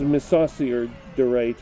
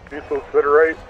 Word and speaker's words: mesosiderite: That was Misosiorderite, or whatever the hell it is. However it's pronounced. Mesosiderite. Yes, that's it.